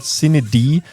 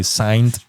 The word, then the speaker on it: CineD: People just say signed or whatever. But if you write it like this, it will pronounce it correctly.